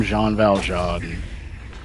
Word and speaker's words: Valjean: Is it Jean Valjean or Jean Valjean with a B? Because I've been getting flashbacks to when I found out I've been saying Vegeta and looking like an idiot for years. Okay, it is Val.